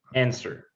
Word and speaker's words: answer: Answer. Okay, which letter is not pronounced? The W.